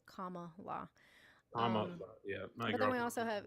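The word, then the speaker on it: Kamala: paying attention to Jazzy her name is pronounced comma law but then we also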